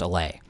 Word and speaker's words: Allais: Maurice Allais was French, just like Marquis de Condorcet. That's why his name is pronounced Allais. And really, that's your first lesson for today, is that if you're ever saying his name in public, you should say it as Allais and indicate that you know how to pronounce it correctly.